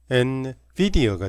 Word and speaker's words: NVIDIA: 발음은 여기 엔비디아가 영어식 발음은 엔비디아가 되겠습니다.